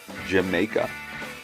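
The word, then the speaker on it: D'yer Mak'er: The album's remaining tracks, Dire Maker, which Robert Plant pronounces as Jamaica, Dancing Days, The Ocean, and The Crunch are all equally fantastic.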